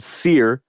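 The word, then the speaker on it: Cyr: m their last album was called seir spelled c yr and his last you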